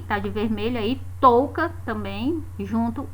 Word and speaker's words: também: Porque quando nós dizemos a palavra também, no final da palavra esse M soa como se fosse um I, ó. Também, nós colocamos um I na pronúncia. Então seria um Izinho oculto, né?